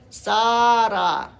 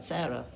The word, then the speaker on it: Sarah: He pronounces it slightly oddly, Sara, rather than Sarah.